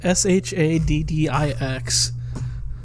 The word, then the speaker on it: Shaddix: But I think his last name is supposed to be pronounced like Shadow. It's like SHADDEUX or something. It's just It's SHADDIX.